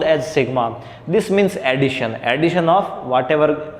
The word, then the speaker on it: sigma: It is denoted, it is pronounced as sigma.